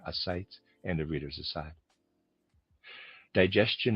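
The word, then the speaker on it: ascites: Readers aside, I'm pronouncing a sites a s c i te. Forgive my pronunciation there. sites and the reader's aside.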